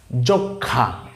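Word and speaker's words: যক্ষ্মা: এখন এর নিচে যেহেতু ম আছে, তাহলে উচ্চারণ তো হওয়ার কথা ছিল যক্ষমা, তাই না? তাহলে ময়ের উচ্চারণটা ঠিক থাকতো, কিন্তু এখানে আসলে ম আছে ঠিকই, কিন্তু ময়ের কোনো উচ্চারণ হবে না।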